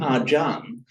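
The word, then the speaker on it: ajahn: So that's why Acharia turns up in Thai as Ajan. That's it. So when we call somebody an Ajan, that's simply the Thai pronunciation of the Pali Acharia from the Sanskrit Acharia as in Shankar Acharia.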